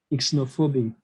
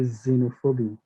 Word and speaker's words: xenophobia: it's starting a word i would not say for instance isinophobia no it should still be xenophobia xenophobia xenophobia that's how